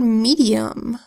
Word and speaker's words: medium: Here we have a first syllable, me, with the M that says and the E that says E. That's an open syllable word, so the E makes its long sound. Next syllable, D. So we have a D that says D, and an I that makes its long E sound, E.